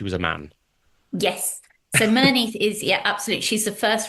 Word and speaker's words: Merneith: the story of, and I hope I pronounced it correctly, Merneith? Yes, Merneith.